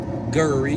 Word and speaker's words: Guri: Your name's not. It's spelled Guri. Gurry. That's my name. Just how we pronounce it. Guri.